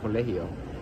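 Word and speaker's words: Colaço: It's not spelled like Colegio in Spanish, but that is his last name, Colegio.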